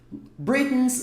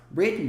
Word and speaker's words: Britain: Britain's longest reigning sovereign, soberana do Reino Unido, britânica, reinando há mais tempo. Esse Britain's está falando lá do UK, está falando lá do Reino Unido. Olha só. Britain significa the United Kingdom, UK, caso você queira